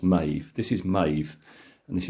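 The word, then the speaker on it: Medb: I always uh um thought that that was madib right but it's not I now know it's pronounced Maeve this is Maeve and this is megrim this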